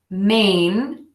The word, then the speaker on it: Maine: easy breezy one syllable Maine the state is pronounced exactly the same as Maine the word main main main main main main